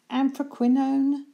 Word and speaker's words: anthraquinone: the description below so I hope I can pronounce this one this is kind of an interesting word it's anthraquinone blue a and th are aq UI n